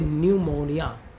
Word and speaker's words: न्यूमोनिया: यहां पर P silent है। साइलेंट लेटर भी यूपीटेट एग्जाम में पूछे जाते हैं। तो इसका जो हिंदी होती है वो होती है न्यूमोनिया। न्यूमोनिया।